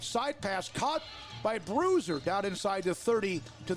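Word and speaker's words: Bruszer: deontay think that anybody whose last name is bruiser is good spell differently though that's how you pronounce it b-r-u-s-z-e-r taylor the quarterback with orenze to his left first down at the conley 30.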